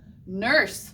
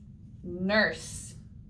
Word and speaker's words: nurse: nurse your turn nurse and says you are er an s e that e is going to be silent not like a not like a silent e vowel like a blank e type word um but it is a silent silent e kind of just hanging out with that s all right let's blend